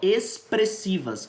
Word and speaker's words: expressivas: também então veja só expressivas a tampa o x aqui tem som de s não procede easy isolados